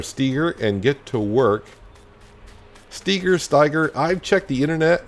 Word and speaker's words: Steiger: I would pronounce it Steger, not Steiger. Just because the E's before the I, so I think I would pronounce the E more than the I, so Steger.